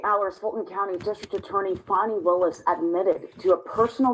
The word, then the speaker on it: Fani: outside of other things fonnie is how you pronounce her name I thought it was Fanny but it's fonnie right breaking news on